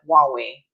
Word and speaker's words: Huawei: And now the decision has very much been to not do any business with Huawei. That's the correct way of pronouncing the word.